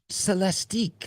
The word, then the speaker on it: Celestiq: because we had to look it up the celestic the nine we haven't seen pronunciation word how should it be pronounced celestique like you got it does sound a little